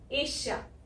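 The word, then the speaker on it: Asia: और उसके अलावा यहाँ पे सिर्फ एस लिखा है, लेकिन बोल हम एशिया रहे हैं, है ना। और मैंने ये भी बताया आपको कि कुछ लोग इसको एशिया भी बोलते हैं, श की बजाय ज, लेकिन वो इंडिया में नहीं बोलते हैं। एंड आप कंफ्यूज मत हो, आप बस श बोलो, स नहीं, एशिया, एशिया।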